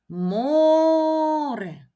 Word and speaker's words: море: наголос почали море прекрасно Ми чуємо що наголос падає на голосний звук О бо його ми вимовляємо більш протяжно Отже наголошеним буде саме звук О який знаходиться в першому складі а значить перший склад є наголошеним прекрасно визначаємо в останньому